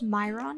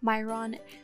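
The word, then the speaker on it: Mehron: me a couple dabs i did use myron i believe is how you pronounce myron face paint for the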